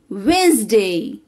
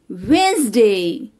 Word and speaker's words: Wednesday: d n e s d a y it's wednesday wednesday like today is wednesday w-o-m-e-n it's women women